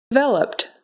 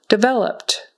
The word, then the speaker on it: developed: like a z president developed developed so that Ed on the end becomes just a t- sound developed developed brochure brochure